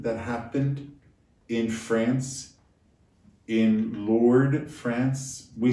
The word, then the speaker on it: Lourdes: happened in france in lord france we say lords but it's really lord france l-o-u-r-d-e-s and the s is silent this apparition that happened